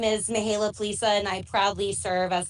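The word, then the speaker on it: Mihaela Plesa: sure you can, Vice Chair of this group, Mihaela Plaza. Am I close, Mihaela? Thank you so much. Is that close to pronunciation? Yes, you did very well. Thank you. Good morning, everybody. My name is Mihaela Plisa, and I proudly serve as the Vice Chair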